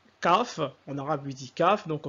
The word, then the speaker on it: Qaf: prononciation la lettre Q donc en arabe eux ils disent CAF ok pour représenter la lettre entre guillemet la lettre latine Q ok CAF c'est le Q et en latin nous